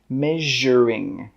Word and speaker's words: measuring: The S in this word is pronounced the same as in the word television. Television, measuring, measuring, measuring jug.